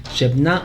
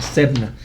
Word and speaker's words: Sebna: Shebna o Sebna se pronunciaría en hebreo.